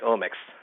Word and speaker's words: omics: Right, like OMICS, like genomics. So it's OMICS, yeah.